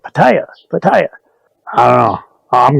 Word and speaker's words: Pattaya: I was sitting there talking to Sampit and I said Pattaya. And she's like, what? That ain't how you say it. You say it Pattaya.